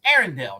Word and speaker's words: Arendell: It's Arendell, not Ardell, but Arendell. It's actually Arendell. Arendell. Yes, it's the letters R and L.